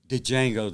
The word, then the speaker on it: Django: There was a time before Django, the D is silent.